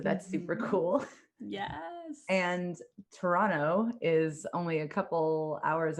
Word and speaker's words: Toronto: It actually is Toronto, like the way it's spelled.